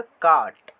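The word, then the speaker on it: caught: जैसे कि सी ए यू जी एच टी, ये क्या हो गया? काट। तो इसमें जी एच को नहीं पढ़ते हैं, ये साइलेंट रहता है।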